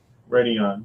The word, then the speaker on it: Radeon: If you want to go AMD, go Radeon. If I'm pronouncing that right. Radeon, you're right.